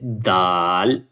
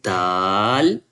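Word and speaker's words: دال: When you pronounce when you touch the upper side, you say dal. You can say dal.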